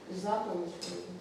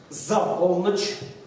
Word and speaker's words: за полночь: А где случаи, когда ударение вообще переносится на предлог? Ни в чем не бывало, там только один предлог. За полночь. За полночь.